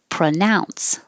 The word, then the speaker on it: pronounce: in 21 which is pronounce the pro is changing to pra because it's not stressed pronounce pronounce ow is the vowel pronounce how do you